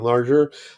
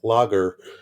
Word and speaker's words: lager: My only very important observation about this sketch is that every time Bunsen said German larger, I want to say, no, it's pronounced German lager.